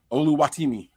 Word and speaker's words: Oluwatimi: at the Seahawks Pig I can't say his name oluwatimi no that was it yo you said it right yo you know who